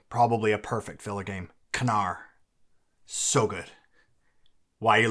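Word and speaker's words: Knarr: cuz you forgot played it oh okay anyways canar we we were pronouncing it we were calling it Nar but when I was well no we both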